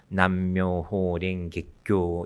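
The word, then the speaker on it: 南無妙法蓮華経: 이 일본 말로 읽으면, 일본 발음으로 읽으면 남묘호랭객교 이렇게 됩니다.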